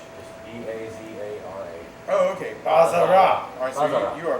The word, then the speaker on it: Bazara: I pronounce it I'll show Bazara, you.